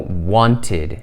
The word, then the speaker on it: wanted: La pronunciamos como wanted. Okay. Tiene ese sonido de it al final porque want termina en.